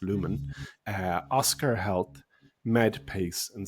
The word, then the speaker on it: Lumen: And the four companies that I put out to pull were Lumine, as I pronounce it. I think it's pronounced Lumen.